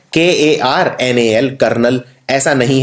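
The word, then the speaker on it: colonel: बहुत ही कठिन शब्द है, इसे बोलते हैं कर्नल। जैसे जैसे आर्मी के अंदर कर्नल होता है, ये है कर्नल। अब जब हम कर्नल लिखते हैं तो कई लोग सीधा लिख देते हैं KARNAL, कर्नल।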